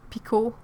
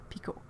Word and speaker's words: Pekoe: P I see ot if you say that one like picot that's exactly the French pronunciation of it picot and the T well